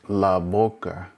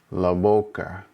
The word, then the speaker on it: boca: It's almost like a combination of the B and the V at the same time.